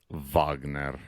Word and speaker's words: Wagner: so it's pronounced Wagner I know I know